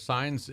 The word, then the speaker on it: Saenz: name is Saenz, S-A-E-N-Z. Sounds like stop signs, but it's spelled a little differently, S-A-E-N-Z.